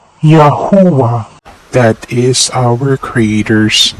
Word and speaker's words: Yahuah: Ya plus U plus A makes Yahuah. Let's recap. Yahuah is pronounced as Yahuah.